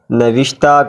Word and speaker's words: نوشتہ: کہنے کی ضرورت نہیں۔ نوشتہ کا درست تلفظ بروزن فرشتہ ہے۔ نمبر 8، ہونٹوں پر